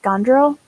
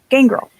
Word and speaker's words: Gangrel: and I'm thinking I like the is it pronounced Gondrel? Gangrel? Gangrel.